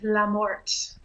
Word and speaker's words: Lamorte: How's it pronounced? My maiden name is Lamorte.